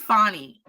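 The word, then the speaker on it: Fani: last week uh F uh Fanny Willis fonnie I keep I always want to say her name right but I always mess it up I think it's fonnie fonnie Willis and her um and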